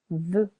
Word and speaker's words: veut: Il, elle, on veut. Silent T.